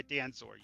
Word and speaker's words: Danzor: Okay, is it Danksor or is it, what's the correct pronunciation? How do you say your name? I go by Danzor usually.